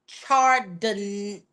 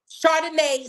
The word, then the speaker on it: Chardonnay: So before we even get into it, Chardonnay, I think it's pronounced Chardonnay Solomon. like the drink Chardonnay. Chardonnay Solomon.